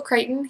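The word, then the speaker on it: Crichton: would say it right it was Michael kryon he said it rhymes with frighten and it's Scottish learn something new every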